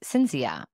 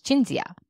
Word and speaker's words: Cinzia: you're important even names your name is spelled c-i-n-s-i-a and so I assumed it was Cynthia how do you pronounce your name it's jinzia we practice that that